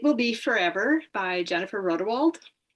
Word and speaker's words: Rodewald: My first is It Will Be Forever by Jennifer Rodewald. Did I say her name right? Rodewald? That's how I say it.